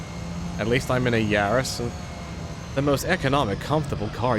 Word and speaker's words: Yaris: Yaris or Yaris. It's like how the French say Paris.